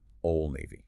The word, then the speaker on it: Old Navy: The D in old often disappears before the N. Old Navy.